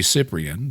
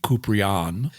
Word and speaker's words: Cyprian: old do you think-" It's probably Cyprian, but you're pronouncing it the, if you really want to say it the Greek way, it would be "Coop-ry-on." Yeah, I probably butchered that.